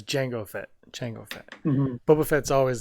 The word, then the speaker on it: Jango: Django. The D is silent. The answer is About the answer, go Django. the answer is Boba Fett. Hmm. No, I'm joking. It's Jango Fett.